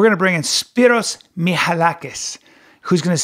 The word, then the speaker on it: Michalakis: Michalakis. That's right. Michalakis.